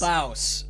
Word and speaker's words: Baus: Baus. That's how they pronounce it.